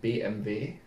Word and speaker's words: BMW: end of view BMW in Germany we say BMV BMV why that's how we say it but that's the view it doesn't make sense yeah in English is W okay oh okay let's